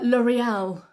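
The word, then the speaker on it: L'Oréal: what's that anybody uh L'oreal L'oreal Michelle yes L'Oreal that's the way we say it in England L'Oreal okay little very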